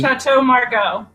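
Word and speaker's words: Château Margaux: I know Chateau Mar how do you pronounce the last part do you chatau Margo oh it is Margo okay Margo very good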